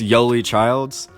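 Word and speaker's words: Yoeli Childs: we are led by y le yo le yo I'm gonna butchery I'm probably butchered at every single time it's yo Lee childs but he's averaging 22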